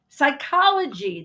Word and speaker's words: psychology: the H is silent psychology the p is silent knife the K is